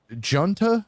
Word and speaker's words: Junta: And then finally, Fish, another one of your favorite bands, Fish, reissue of, I believe it's their debut album, Junta, I think is how you say it.